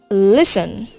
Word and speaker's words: listen: Listen. Silent letter T.